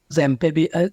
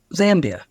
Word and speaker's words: Zambia: been to Malta uh zamb is why am I not saying it right Zambia um which again people have